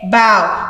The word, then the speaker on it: bow: the same spelling bow we say bow we say bao it means to bend forward to show recognition okay bow it also can be the front of a boat the front of a boat bow wow that word has four meanings two ways of pronouncing it can you imagine but